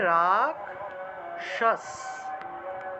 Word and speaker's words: রাক্ষস: যদি বলি তাহলে রাক্ষস কিন্তু সংস্কৃতে এই খেয়টাকে আসলে ভাঙতে হবে ক যোগ মূর্ধন্য তে ভেঙে যাবে তাহলে উচ্চারণটা হবে রাক্ষস রাক্ষস ঠিক আছে দেখবেন যারা হিন্দিতে কথা বলে তারা কিন্তু রাক্ষস উচ্চারণ করে থাকে রাক্ষস হিন্দি ভাষার উচ্চারণ এবং সংস্কৃত ভাষার উচ্চারণ প্রায় সিমিলার ঠিক আছে তা দেখুন রাক্ষস অর্থাৎ খিয়টা ক যোগ মর্ধন্য তে ভেঙে গেল এই দুইটা অক্ষরে ভেঙে যাবে তাহলে রাক্ষস উচ্চারণ হবে রাক্ষস বোঝা গেল তারপরে এই